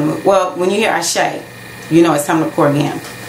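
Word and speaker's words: Àṣẹ: Ashe is spelled A-S-E, and that S is sh. So, you know, it's like a special accent or symbols on it to make it sh.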